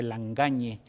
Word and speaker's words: Langagne: y dice lang acné langagne de dónde es y cómo lo pronuncia o como nos lo estira ya mira me preguntaron cómo decirlo porque la gente que habla francés dice la engañe como nadie se atrevería